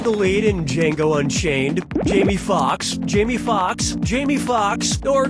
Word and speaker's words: Jamie Foxx: Jamie Foxx, Jamie Foxx, Jamie Foxx, or Jamie Foxx? Jamie Foxx's last name has 2 X's in it. The first X is silent.